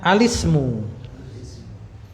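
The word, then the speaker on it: الاسم: kemudian nah seperti itu Ismu dikasih alif lam itu lebih tepatnya bacanya alismu karena apa di sini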